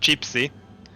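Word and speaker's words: čipsy: Funnily enough, uh potato chips actually in Slovak uh it's pronounced chipsy.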